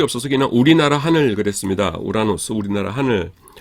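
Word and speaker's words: οὐρανός: 그래서 오오미크롬 입실로 나면은 어 우 발음이 나요. 그래서 요거 두 개가 한 세트이기 때문에 여기 그 약기식이 그 두 번째 거에 붙어 있죠. 그래서 우라노스입니다. 하늘이에요. 어 우라노스.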